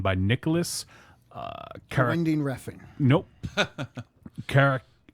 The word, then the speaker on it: Karakatsanis: Karakatsanis. Jesus. Karakatsanis. That's how you say it.